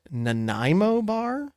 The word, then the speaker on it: Nanaimo bar: I have no idea how to pronounce this. Nanaimo bar?